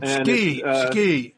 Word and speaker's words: Tsuki: Oh, ski. Oh, really? Ski. Yeah, ski. Yeah. Tsuki. I don't know. I don't speak Japanese, so I don't know how to pronounce it. Yeah, they swallow their U.